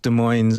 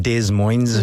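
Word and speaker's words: Des Moines: In West De Moines's Iowa. Am I pronouncing that correctly? I think it's De Moine without the S. De Mo. So it's not De Moines.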